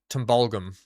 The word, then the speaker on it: Tumbulgum: Um, tumble gum, right? Tumble gum, which it's actually pronounced tumbulgum.